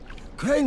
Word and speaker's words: Crane: name is crane crane crane rhymes with train and brain and sign and gray and rain and plain and the other kind of plane and what can I